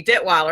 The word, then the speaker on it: Detwiler: more and without further adieu and did Weiler am i pronouncing that correctly hello yes you are actually